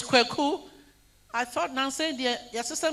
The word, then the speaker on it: Kweku: It's Kweku. I thought Nancy, your sister maybe. So I saw Kweku, but I saw Y. So I thought Kweku has breathalyzed to Kweki. Because I have seen Kweku called Kweki before.